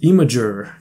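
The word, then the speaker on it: Imgur: just upload them to imager or email guru whatever it's called i'm going to google it now actually oh supposedly it's pronounced imager okay so yeah i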